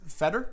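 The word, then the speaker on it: Fedor: with the name pronunciation I suppose it's feder yes feder okay not feeder no okay anyway it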